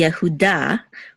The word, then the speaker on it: Yehuda: so this is V the name by itself would be yahuda with Accent on da but because we have